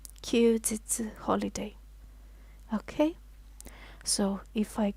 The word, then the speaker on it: 休日: It's pronounced 休日.